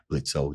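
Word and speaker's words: Blitzø: getting some other Blitz blitzo the O is silent withes geter when I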